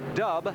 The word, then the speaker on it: Dub: And about 10-12 years ago, he and his brother Dub, yeah, not Doug, it's spelled D-U-B, Van and Dub May, changed their base of operations to the Eastern Pennsylvania area.